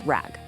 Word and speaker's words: RAG: Yeah, pronounced rag.